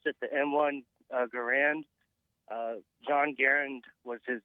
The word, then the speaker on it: Garand: bear once I said I'm the only one who pronounces his name correctly but you're telling me that it's actually garand yeah Ian from Forgotten